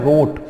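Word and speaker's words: wrought: तो देखो फर्स्ट हमारा 6 नंबर का जो वर्ड है क्या लिखा है, रोट। ठीक है, W यहां पर साइलेंट है और रोट स्पेलिंग आप देखें WROUGST, रोट।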